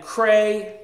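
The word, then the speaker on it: Creye: So again, Cray, it's spelled C-R-E-Y-E.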